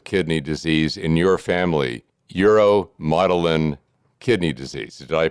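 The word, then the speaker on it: uromodulin: And it wasn't until 2016 that genetic testing revealed the cause of kidney disease in your family, uromotilin kidney disease. Did I pronounce that correctly?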